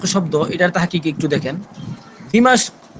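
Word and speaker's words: دمشق: এটার তাহকিক একটু দেখেন দ্বিমাস্ক এটাই সহি সহি উচ্চারণ যেটা এটা দিমাস শহর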